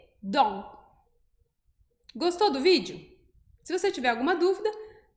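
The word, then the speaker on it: dans: Então, o D mais o O, a gente pensa em Dó. Dó, e agora eu vou colocar o N depois do O. Então, vai ficar Dom, Dom. Então, a pronúncia correta dessa palavra, que significa dentro, vai ser Dom.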